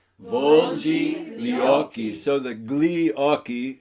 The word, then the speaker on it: gli: So the gli occhi, the gli is actually pronounced like li, and you kind of allied that to the next word.